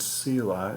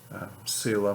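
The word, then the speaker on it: Selah: of psalms have it that word sila it's spelled s-e-l-a-h no one really knows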